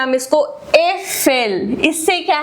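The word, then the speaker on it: Äpfel: ए उमलाउट जो होता है it's like E, ई, ई इन बेड। जैसे ई बोलते हैं हम इसको एफेल।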